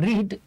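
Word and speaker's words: read: আর রিড, রিড past টেন্সে হয় রেড, রিড রেড রেড।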